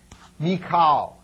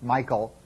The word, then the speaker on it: Michal: first individual that we're interested in is named mikal uh sometimes you'll hear it pronounced Michael uh mik makes it a little easy to